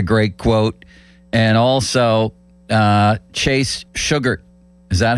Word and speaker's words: Shugart: And also, Chase Sugart. Is that how I should say his name? Shugart. Same thing, Limits. At least I thought it was Shugart when he pitched for the Pirates. Well, now it's Sugart.